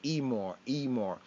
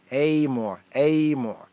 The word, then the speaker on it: אמור: Some might read it as Emor, but the pronunciation of pointing is Amor.